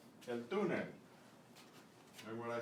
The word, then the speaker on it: túnel: El túnel, el túnel. And what I said, without this accent mark, you would say túnel, but when you see an accent mark, you know you put the stress there.